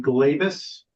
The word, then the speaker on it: Glavis: it has so Christina is it pronounced glavis yes you got it right one the first welcome